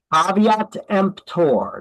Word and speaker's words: caveat emptor: So caveat emptor, that's how you pronounce that. It's not pronounced caveat emptor the way that it's spelled. It's pronounced caveat emptor.